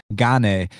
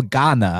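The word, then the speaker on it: Gane: i think it's cyril ghana i think it's pronounced ghana i used to say ghane and then i'd say gone and then i heard john anik saying ghana so i'm a roll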